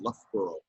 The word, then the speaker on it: Loughborough: town that I lived in, which was called Loughborough. Okay. Loughborough, Loughborough, which I thought, I pronounced it Loughborough.